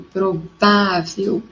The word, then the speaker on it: provável: Então, provável, quando eu digo provável, eu tenho a minha sílaba tônica forte no vá, e como ela é terminada com L, ela recebe acento.